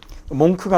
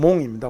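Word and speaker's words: monk: 요거 K가 발음이 없습니다. 몽크가 아니고 그냥 몽입니다. 몽.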